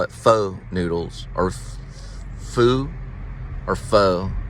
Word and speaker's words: pho: Pho Noodle and Grill. That's how you pronounce it. Pho. Because I talked to a Vietnamese person and they said it's pronounced pho.